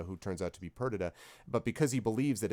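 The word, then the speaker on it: Perdita: pronounce whatever you want the shakespearean one pronounces it uh perdada but either way is fine um and it is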